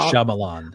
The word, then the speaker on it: Shyamalan: I'm like, we need to do a run of might sham sham shaman Shyamalan.